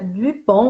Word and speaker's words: Dupont: Então hoje nós vamos falar, né, sobre o livro da Yara Dupont. Vou falar com a pronúncia em francês, né, para ficar chique.